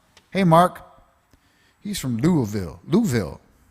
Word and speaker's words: Louisville: Louisville. He'll tell you how to pronounce it. He knows. Louisville. And Just think like you're drunk.